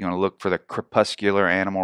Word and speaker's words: crepuscular: of them but here's the first one I'll pronounce it for you because I looked it up ahead of time crepuscular crepuscular anybody know what that means just guess out